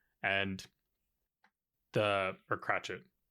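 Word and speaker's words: Cratchit: And the or Cratchet. How do you say that name? Bob Cratchet.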